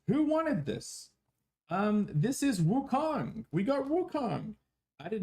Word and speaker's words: Wukong: Wukong.